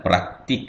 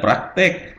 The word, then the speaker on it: praktik: Nah, praktik ya bukan praktek.